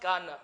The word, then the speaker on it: Cannes: It's pronounced Cannes, but I'll give it to you.